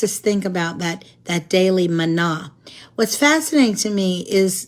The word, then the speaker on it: manna: Now, God, as you know, gave them what we call manna. I think it probably should be pronounced manna in the Hebrew, but it was the